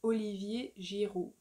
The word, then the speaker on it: Olivier Giroud: Then you have Olivier Giroud. Olivier Giroud. Olivier Giroud. Giroud. So here you don't pronounce the D at the end.